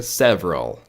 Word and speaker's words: several: Aqui você vai ignorar o E, então fica several, several, tá?